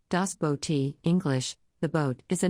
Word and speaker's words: Das Boot: Das Boot German pronunciation Das Bo T English the boat is a 1981 West German